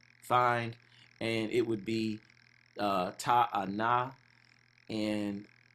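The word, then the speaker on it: תאנה: So it wouldn't even have made, it would be, ta'ana. So it wouldn't be any A-E-I-O-U. We would just pronounce how we were learned to pronounce the characters, if that makes sense.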